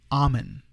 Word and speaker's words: Amen: Amen. Looks like Amen. Dr. Amen, that's the way to pronounce his name.